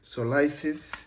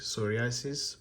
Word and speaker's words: psoriasis: going to talk of solisis so others SP in Africa pronounce it as psorasis but so the P silent pis so what is